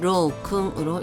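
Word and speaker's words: 郎君: 그 다음에 낭군 많이 쓰이는 한자는 아니지만 일단 발음만 좀 유의해서 보시면 될 것 같습니다 신랑은 신로우로 이거지고 낭군은 로우 쿵으로 읽어줍니다 쓰는 순서 가겠습니다만 위에부터 갑니다 하나 둘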